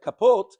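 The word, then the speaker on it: כפת: It's read kapot, but it's spelled without a vav, as if it says kapat, 1.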